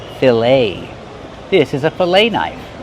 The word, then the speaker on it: filet: We see the e t making the long a sound like say and day. Filet.